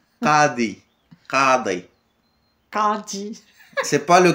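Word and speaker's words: قاضي: Le ka, comme la poule. Qadi. Qadi. Kadi. C'est pas le Qadi de Bim ou de Marjane, c'est Qadi.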